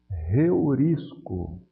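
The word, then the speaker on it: εὑρίσκω: áspera aqui eu vou ler reur isco como se tivesse um h aqui na frente do ditongo outra coisa interessante é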